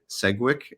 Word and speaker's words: Segwick: segwick dcom that's swi that's a hard G not a soft G segwick and um no CK